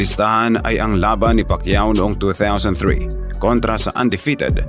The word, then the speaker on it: Pacquiao: Ultimo, ang mga announcer ay hindi pa mabigkas ng tama ang dakilang pangalan niya. Pacquiao.